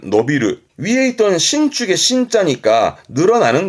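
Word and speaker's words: 伸びる: 발음은 노비르. 위에 있던 신축의 신자니까 늘어나는 거지요. 키가 자라난다라든가 노비르.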